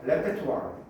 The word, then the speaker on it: repertoire: 저게 불어에서 왔기 때문에 그런 거야. 레페토아. 알겠죠? 레페토아.